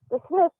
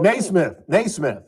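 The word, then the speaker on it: Nesmith: How did Mike, the Smith, come by his fortune? How did Mike who? It's, how do you pronounce it? D. Smith? The Smith? Oh, Naismith.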